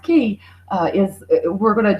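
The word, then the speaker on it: Cay: and then um Castaway key it's not K guys it's actually pronounced key uh is we're going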